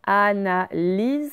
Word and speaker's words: analyse: Ensuite, une analyse. Là, le Y vaut I. Il ne vaut pas IE, donc je ne le colorie pas.